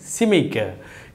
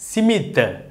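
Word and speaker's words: SMIC: நீங்கள் இதை சில பேர் வந்து உச்சரிப்பு எவ்வாறு சொல்லுவோம் என்றால் சிமித்த, சிமித்த என்று சொல்லுவார்கள். உண்மையிலேயே அந்த சிமித்தன்றது யாரோ ஒருவருடைய பெயர். அப்போ சிமித் என்று சொல்லக்கூடாது, எவ்வாறு சொல்ல வேண்டும், சிமிக்க.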